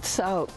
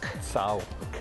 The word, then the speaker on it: T'Sou-ke: So this is Sauk, and the proper pronunciation again? Sauk. Sauk.